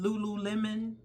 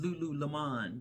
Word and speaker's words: Lululemon: Remember that video I did on those women in Lululemon? Someone teased me because of the way I would pronounced it in that video. I think I was saying Lulu Lemon, but it's Lululemon.